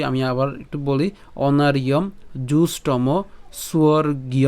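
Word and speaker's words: জুষ্টম্: হয়ে যাবে ঠিক আছে অনার ইয় তারপরে এখানে উচ্চারণ হবে কি জুষ্টম জুষ্টম হ্যাঁ আমরা একসাথে উচ্চারণ জুসম তাহলে জুষ্টম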